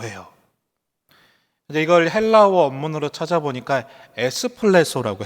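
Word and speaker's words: ἐκπλήσσω: 이걸 헬라어 원문으로 찾아보니까 에스플레소라고 해요. 여러분이 좋아하시는 커피와 비슷한 발음이 되는데 이 에스플레소의 뜻은 뭐냐 하면 그냥 놀랐다 정도가 아니라 충격을 받았다는 뜻입니다.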